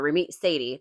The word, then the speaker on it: Ramit Sethi: Um, if you have not read I Will Teach You to Be Rich by Ramit Sethi or Ramit Sethi, that's how you say it.